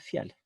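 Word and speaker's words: φιάλη: Dice fiale, pero en griego el acento se pone en la segunda vocal cuando hay un diptongo, pero se debiera pronunciar en la primera.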